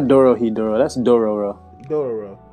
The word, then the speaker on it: Dororo: That's Dororo. Dororo. It's Dororo, right?